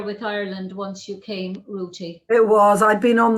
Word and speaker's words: Ruti: all that you know i have to be very clear this is not me not able to pronounce my th's but her name is spelled r-u-t-i rooty uh you were born